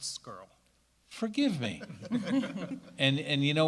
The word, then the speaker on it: Scarry: Groff, Scott Sheeter, Scarry, and Sarah Spencer, all for being here this evening. Mr. Johansson, may I interrupt? Sure. It's pronounced skirl.